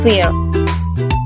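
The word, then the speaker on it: fare: Dan cara bacanya itu, in general, we call this fear. But in Scottish, we call this word fear. Jadi R-nya itu lebih lembut dan gak terlalu ditekan ya.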